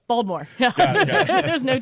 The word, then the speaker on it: Baltimore: I'm not allowed to call it Baltimore. But how do you say it? Baltimore? Baltimore. There's no T. Baltimore.